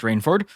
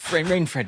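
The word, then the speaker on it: Rainfred: you uh uh priest rainforward and I make I I just this rain rain Fred my apologies that's how you say it it's two first names put together into one name yes and then rain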